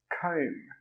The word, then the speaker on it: comb: Okay, let's look at the second word, comb.